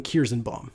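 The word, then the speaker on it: Kierszenbaum: Martin Kirsenbaum.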